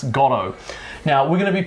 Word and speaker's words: Godot: patrick stewart pronounced it we're not actually sure which one's the official pronunciation but we're australians and we're founders of patrick stewart and mckellen so we're going to go with godo gotto you pronounce it however you want all right